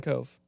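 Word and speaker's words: Kove: Martin Martin or is it Martin Cove?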